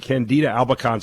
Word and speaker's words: candida albicans: about here it's it's about something totally different candida albicans am i saying that correctly yes you're saying